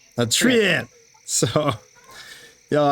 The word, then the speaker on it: treant: It's tree ant. A treant.